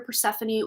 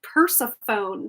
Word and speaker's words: Persephone: of it um and then we have here Persephone with new beginnings and anyone else as a kid used to uh like uh pronounce this as Persephone I used to call